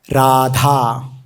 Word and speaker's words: Radha: from her holy name, has got 4 syllables. Ra, A, Dha and A. Radha means Ra, Vyanjana, and A, Swara, Dha, Vyanjana, and A. So, it becomes Radha.